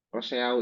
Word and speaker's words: Rousseau: Rousseau ini dibacanya Rousseau.